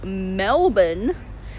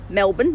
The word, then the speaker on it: Melbourne: moved actually down to Melbourne yes ace how you say it Americans its Melbourne not Melbourne it really annoys me